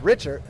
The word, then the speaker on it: Richard: That's number 13, Leandro Richard, who we were saying his name wrong apparently for about a week or two. That is Richard, but takes a big shot there, but able to bounce right back up.